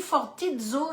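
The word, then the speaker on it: phortizo: mot fortizo donc ça ça se dit fortizo ça s'écrit P h o r t I Z o c'est la la racine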